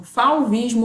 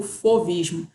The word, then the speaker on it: fauvismo: tem aí essa dualidade às vezes a gente encontra como fauvismo ou fovismo é por causa da pronúncia francesa é bom esse movimento